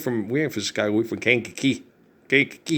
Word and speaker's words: Kankakee: Kankakee. You gotta say it like that. Kankakee.